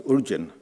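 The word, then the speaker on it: ཨོ་རྒྱན: So much so that his great 13th century devotee Guru Chowang simply refers to Padmasambhava as Urjan, which is the Tibetan pronunciation of Uddiyana.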